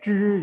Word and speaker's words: 支: Ya, di sini bacanya zhi ya, bukan zi tapi zhi. Lidahnya dibalik.